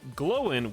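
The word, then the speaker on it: Glóin: is wrong it is glowing with um an accent over the o to back up my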